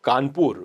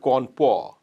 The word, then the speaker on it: Kanpur: thane you know or you know kanpur where they used to call it corn poor you know and we